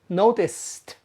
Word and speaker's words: noticed: Notice that the word notice is spelled with a C-E, but the final sound is s, notice. So the past tense is pronounced noticed, noticed, st, noticed.